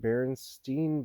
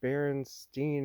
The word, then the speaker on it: Berenstain: like huh that's odd everyone seems to pronounce it Berenstein Bears her Berenstein Bears and I didn't think